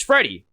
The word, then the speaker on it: Freddy: correctly and I'm like it's Freddy just say Freddy like how you would say Freddy like Freddy Krueger Freddy Fazbear except it's tease instead